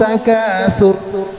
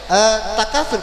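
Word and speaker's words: التكاثر: Baik, takatsur berarti tafkhim, berarti dibacanya tebal, enggak boleh.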